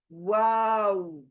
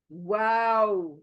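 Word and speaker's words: واو: नहीं पढ़ सकते आप आपको वाव बोलते वक्त होठों को गोल ही करना है तब एगजैक्टली प्रोनाउंस होगा वाओ वाओ ये बारीक है य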